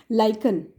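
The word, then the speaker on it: lichen: तो सबसे पहले तो लिटमस बनता किस चीज़ से है, लाइकन, this is the pronunciation of this word.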